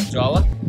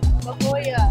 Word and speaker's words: La Jolla: Jawa? Oh, no. Is that how you say it? La Jolla.